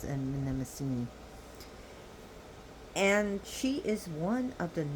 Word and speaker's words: Mnemosyne: Urania, and she is the child of Zeus and Mnemosyne, pronounced Zeus and Mnemosyne in America, but the Greek names is Zeus and Mnemosyne.